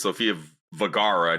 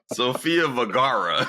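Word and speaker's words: Sofía Vergara: many her name is Sophia vagara not Viagra sopia repeat let me repeat that what's her all right let me let's cut how do you say her name again Sophia varara not if you want to say Viagra that's not it it's not her name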